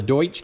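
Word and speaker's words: Deutsch: And this is a 2-pack of the Doiche connectors. I said it right that time. And so to put these on, I borrowed this tool from work, and this is the Doiche connector crimper.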